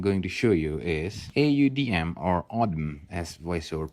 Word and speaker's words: Audm: The next app that I'm going to show you is AUDM, or Audm as voiceover pronounced.